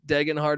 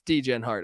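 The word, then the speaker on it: Degenhart: and they also have I like to pronounce this guy's name wrong on purpose they have Tyson Degen Hart who's entering a sophomore year I know it's digging hard or whatever but it's DJ and heart all right come on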